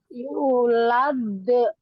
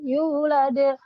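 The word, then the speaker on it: يولد: su l gitu dan cara membacanya dalnya Jangan yulad tidak begitu tidak tapi langsung dipantulkan yulade Ade de u de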